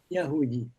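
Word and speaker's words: يهودي: Yahoudi. Alors, sur les voyelles, Yahoudi, c'est vraiment de l'arabe.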